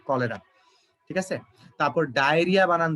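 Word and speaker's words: cholera: এটা উচ্চারণ এটা হচ্ছে চলেরার মতো এরকম, ঠিক আছে? কিন্তু আসলে উচ্চারণটা হয় কলেরা, ঠিক আছে?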